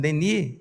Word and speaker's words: Denis: Porque o nome de Léon Denis, que eu estou pronunciando Denis, é porque a pronúncia francesa tira o S.